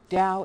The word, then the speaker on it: Tao: explained to me a DA spell Dao but pronounced d w Dow is a path uh a way of doing